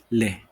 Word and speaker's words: les: pronounced as la and the plural form of that is le now you have some